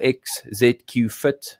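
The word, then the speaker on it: XZQ Fit: a new brand called x z q fit it kind of just plays with the the word execute but you spell it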